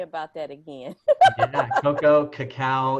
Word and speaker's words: cacao: Cocoa, cacao. It's pronounced Cacao.